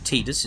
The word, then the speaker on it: Tidus: intention of renaming this guy his name is titus or tidus is the official pronunciation but when have i ever been official